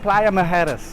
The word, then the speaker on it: Playa Mujeres: Finest Playa Mujeres.